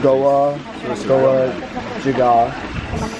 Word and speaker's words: Goa Gajah: We just washed ourselves in the holy water in the Goa Gajah. And no disrespect to anyone, but that's how you pronounce it.